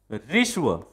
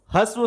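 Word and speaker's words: ह्रस्व: ऋष्व। हम ज्यादातर प्रोनाउंस करते हैं इसको हस्व स्वर बोलते हैं। क्या बोलते हैं? हस्व स्वर। लेकिन ये सही में इसका उच्चारण होता है ऋष्व, हस्व स्वर।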